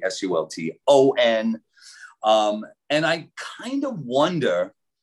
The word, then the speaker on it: Sulton: They usually spell it Sultan, but it's actually Sulton.